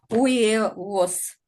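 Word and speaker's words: huevos: потом ще яйцо яйцевово перша літера не читається друга - це у третя - це е не єє тому коли швидко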